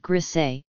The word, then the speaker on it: Griesa: In 1981, Judge Griesa, pronounced Griesa, dismissed all the plaintiffs' objections except the one involving the fish study, which he said required a further hearing.